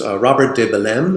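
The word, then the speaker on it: Robert de Bellême: of his, I think, great antagonists, which was Robert de Belem. Is that how you pronounce it?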